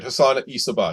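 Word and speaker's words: Hassan-i Sabbah: And that was the leader of this group was called Hassan Isabah. Is that how you pronounce it? Yes, that's right. Hassan Isabah.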